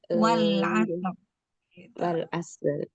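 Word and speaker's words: والعصر: Kalau kita wakof, maka wakofnya harus disukunkan. Wal asr. Wal asr.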